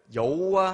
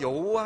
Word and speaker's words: 여호와: 자, 우리가 흔히 성경을 읽을 때요, 이 하나님의 성호를 여호와 하나님이라고 일컫습니다.